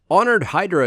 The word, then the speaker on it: Honored Hydra: Honored Hydra is going to be an obnoxious creature to say its name, having a silent H followed by a not silent H.